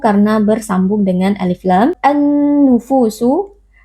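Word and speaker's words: النُّفُوسُ: An-nufusu alif lam asy-syamsiyah, karena ada alif lam yang bertemu dengan salah satu huruf syamsiyah yaitu huruf nun. Cara membacanya alif lamnya kita idghamkan atau kita masukkan ke dalam huruf nun.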